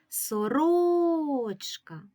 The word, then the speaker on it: сорочка: наголосу і слово сорочка погукаємо це слово сорочка сорочка який склад ми вимовляємо сильніше склад ро склад ро наголошений у цьому слові І